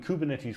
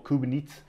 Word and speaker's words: Kubernetes: fascinating videos on making kubernetes clusters out of raspberry PI's or kuba neat I didn't who pronounce it either way it's kubernetes as far as I'm concerned along with ya having